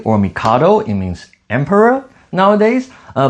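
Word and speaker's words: 帝: This uh in Japanese is pronounced t or mikado.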